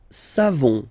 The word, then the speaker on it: savons: Nous savons. So classic ending for nous. O-N-S. You don't pronounce the final S.